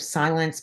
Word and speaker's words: Cylence: Um, you have silence pour on, can't use it in anything that's less than 400 pounds. There's no milk withhold. Silence, it's spelled Cylence.